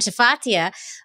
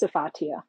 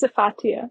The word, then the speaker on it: Safaa: stop you Jamie okay my name is pronounced safaa what well why is there an sh it's safaa I knew that I've